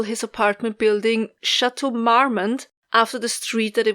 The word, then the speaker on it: Marmont: read the name and i was absolutely convinced that it was pronounced french you know mamo chateau mammal but marmont lane is actually named